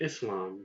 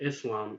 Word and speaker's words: Islam: for the is and Islam the is in Islam is not identical to the eysie or is in the english word dizzy the is in Islam is identical to the SS in the English word kiss so